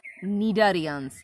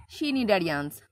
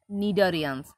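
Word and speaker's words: Cnidarians: as nidarians start horizon the pronunciation is nidharians not china damn not shinindarians pronunciation will be nidorians selene turrets have a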